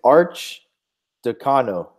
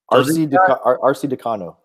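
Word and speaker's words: Arcidiacono: It's Arch Decano. Okay. RC Decano.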